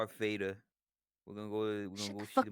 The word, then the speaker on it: Vader: Don't be like a German Darth. and pronounce your V's as W's. They have that habit. Vader.